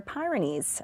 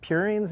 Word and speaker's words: purines: pronounce this, pyrimidines or pyrenes or other basic building blocks of life? Yeah, so I think it's purines and pyrimidines.